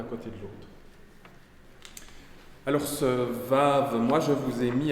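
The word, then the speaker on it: ו: ai mis à côté il se prononce comme un W anglais ou E et ça c'est à l'origine euh jusque là je prononçais aussi comme ça mais à force de faire de l'bre moderne j'arrive enfin j'arrive plus faire le je fais le Ve donc on vous pouvez soit prononcer soit le prononcer ve en hébreu moderne si vous faites on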